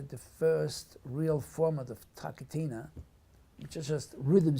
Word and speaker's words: TaKeTiNa: It's again T in the front of the mouth, K throat, T again throat, and then N. So it's like TaKeTiNa.